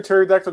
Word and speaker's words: pterodactyl: you never hear a pterodactyl go to the bathroom because the p is silent ah agents of shield